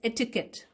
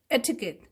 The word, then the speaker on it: etiquette: If we go by the spelling of the words, we can pronounce it in a different manner, but it is pronounced as etiquette. Okay, etiquette.